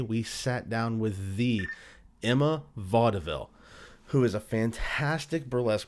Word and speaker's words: Emma Vauxdevil: Well, we are recording, so good afternoon, Emma Vauxdevil. Am I pronouncing that correctly?